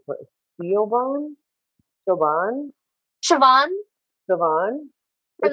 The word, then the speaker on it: Siobhan: Like say her name for Siobhan, Siobhan, Siobhan Siobhan.